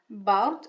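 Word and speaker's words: بَرْد: And this is pronounced as bard. So we open our mouth when we say ba. And the sound of fatha does resemble the vowel A in English, and that's it for fatha.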